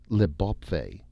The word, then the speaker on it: Le Beau Pays: When the Earthmen landed on the new planet, they had called the new land Le Beau Pays, or, as it was now pronounced, Le Bopfay, the beautiful country.